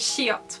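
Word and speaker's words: 시옷: character is this one which is shiot which is an s sound it's the same as in the english language so we're going to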